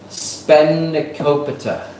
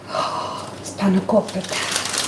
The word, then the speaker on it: spanakopita: Spanakopita. Spanakopita. Did I say it right? No. Say it again. Spanakopita. Where's that from? Greece. So when I said spanakopita, that's just a typical Australian butcher.